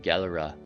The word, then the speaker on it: Gelre: I'll try to not pronounce it as the Dutch would, because I will scrape that over the back of my throat in an incredibly clumsy way. So we'll stick with Gelre.